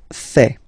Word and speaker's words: fais: Je fais. Je fais. Remember, final S not pronounced.